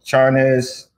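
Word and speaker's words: Charnas: payback by dan uh chart how do you pronounce his name uh charnes yeah charnes and it breaks down like hip-hop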